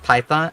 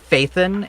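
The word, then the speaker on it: Phaethon: And in the English VAS, they call it python or faithan. In the Japanese and Chinese VA, they call it python with like an annunciation on the h sound of the h rather than the ph being a f sound like an f.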